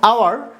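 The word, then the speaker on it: hour: দেখো আওয়ার, আওয়ার এইচ দিয়ে শুরু হয়েছে কিন্তু উচ্চারণ হয়েছে এইচ বাদে ও দিয়ে উচ্চারণ শুরু হয়েছে।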